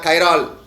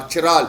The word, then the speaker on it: chiral: Like glucose molecule have 3 carbon atom which they are chiral carbon atom or chiral. You can pronounce it in both the way, chiral or chiral carbon atom.